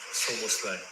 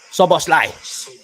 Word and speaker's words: Szoboszlai: Dominic Szoboszlai. Szoboszlai. Szoboszlai.